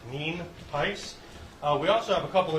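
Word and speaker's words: Nienhuis: al nice um it's spelled n-i-e-n-h-u-i-s and it's pronounced mean piss we also have a couple individuals here that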